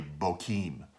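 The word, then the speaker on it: Bochim: name of that place Bachchan yeah because they botched it and they sacrificed their the Lord now at bottom really means weepers and it's probably really Boheme is how to pronounce it but anyways though there's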